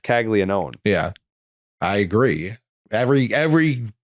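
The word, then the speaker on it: Caglianone: Jack Kaggleó.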